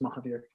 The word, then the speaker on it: Mohabir: It's spelled Mohabir, it's pronounced Mahabir, which you'll also know as you read the book. So kind of, but Mohabir. Wonderful.